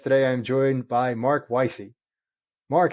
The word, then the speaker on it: Weisi: very it's very different I have some friends who would pronounce that W with a V and some friends who would pronounce that W as a w so I appreciate your